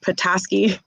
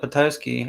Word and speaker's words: Petoskey: uh so welcome sam hello hello did i pronounce that correctly is it petoskey yeah oh okay when i first went back here i called it patosky and everybody made fun of me oh no